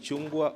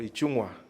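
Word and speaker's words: Ichung'wah: it's difficult to pronounce we call it chungwa or ichungwa but he has done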